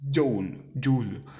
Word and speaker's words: joule: Abbreviated J, letter capital letter J, pronounced as joule, and named in honor of the 19th century English physicist James Prescott Joule.